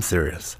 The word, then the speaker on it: Sirius: But it's spelt like Sirius XM SIR. What does that word mean? IUS. I'm serious.